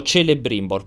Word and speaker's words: Celebrimbor: si chiama celebrimbor scritto celebrimbor però in elfico non si legge il C ma si legge il che Ah esatto poi vedete